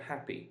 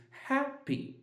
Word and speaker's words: happy: Happy is not the same, it's not happy, it's happy. Happy, so -ha- is louder than -py-, so it's stressed while -py- is not stressed.